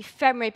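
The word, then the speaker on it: FMRIB: I belong to the Oxford University FEMRIP Center. That's how we pronounce it.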